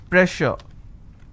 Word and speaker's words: pressure: Is pressure. Just because I have two s, I can't say press sir, I can't say press sir. So here double s will become sh sound, so I say pressure.